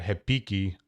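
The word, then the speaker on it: repique: have one around here it's spelled r-e-p-i-q-u-e like repeat but in brazilian portuguese especially in rio de janeiro anything that has an r at the beginning of the word becomes an h so it's hepiki so like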